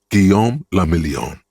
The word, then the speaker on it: Guillaume le Million: Guillaume le Million. Guillaume the If Million. it doesn't rhyme, you're not pronouncing it right.